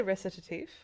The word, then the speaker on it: Recitatif: I say recetif. It's like French.